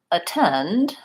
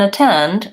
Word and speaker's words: attend: But then if I'm looking at a word like attend, the important syllable is the second syllable, tend. So even though I spell the AT the same in at and attend, in attend, the AT is unstressed and it has a reduced vowel, schwa.